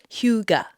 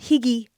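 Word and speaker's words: hygge: but I believe I said it right it's Huga not hiy not Huga Huga Huga anyways I've learned a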